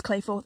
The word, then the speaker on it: Klehfoth: was spelled that way, but but apparently it's Klehfoth.